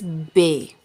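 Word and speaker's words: ب: The simple B sound is pronounced soft and quick, but the sound bhay is pronounced with extra air.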